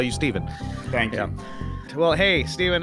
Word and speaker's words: Stephen: how to spell it so it's Steven with a pH like Stefan curry and then be and yes Stefan curry has ruined the name Steven because now everybody tries to pronounce my name they're like Stefan Steve oh my gosh yeah